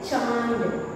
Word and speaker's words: चांद: हम अपने नाक को दबा करके बोलेंगे तो उसका सही उच्चारण निकलेगा चांद। तो इसी तरह बच्चों हम